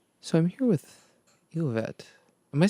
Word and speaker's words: Elovet: So I'm here with Elovet. Am I saying that right? Yeah, it's Elovet.